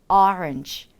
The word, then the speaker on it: orange: orange, orange, orange, orange 이렇게 발음해 주시면 됩니다. 실제로 오렌지 같은 경우에는 orange, orange 이렇게 두 가지 발음이 모두 맞는 그런 소리거든요.